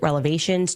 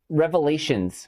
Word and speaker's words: revelations: I have so many explosive relevations to share with you. Wait, wait, no. Uh, it's revelations.